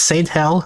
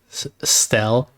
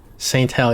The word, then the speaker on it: STHELL: So you might think it's like stell, but the font here implies that the ST part is separate from hell.